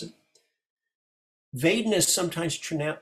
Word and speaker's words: vedana: So if they say Pali with a Burmese accent, they do it with a W. A Burmese accent is Vedana, but the most international standard Pali is V, Vedana, just so you don't